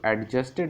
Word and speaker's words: adjusted: देखो, इसको adjusted नहीं पढ़ा जाता है, adjusted पढ़ा जाता है, डी साइलेंट होता है।